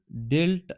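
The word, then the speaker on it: dealt: The teacher डेल्ट out punishment. देखो जो डेल्ट है डेल्ट डेल्ट बोलते हैं इसको जो इसकी कर प्रोनाउंसिएशन है वो डेल्ट होती है।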